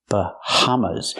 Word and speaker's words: Bahamas: Pronunciation, Bahamas. Use the sound like hello and house.